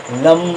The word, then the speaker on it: লং: Actually আমরা উচ্চারণটা লং, কিন্তু আমরা উচ্চারণ করি যখন সেটা উচ্চারণটা হবে লম লম।